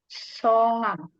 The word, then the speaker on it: 성함: Nah, i름 ini nama lainnya atau bahasa sopannya yaitu songam. Bacanya songam.